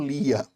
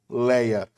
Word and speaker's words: Lia: Jacó trabalhou 7 anos pela sua esposa Raquel e casou com Lia, ou Leia, dependendo da pronúncia que você usar.